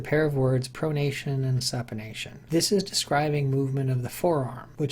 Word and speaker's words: supination: One way to remember this is to pronounce supination, supination. If you can hold a soup bowl in your hands, then your hands are supine.